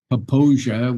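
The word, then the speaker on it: Popo Agie: river in Lander is called the papia which is spelled pooi and uh you know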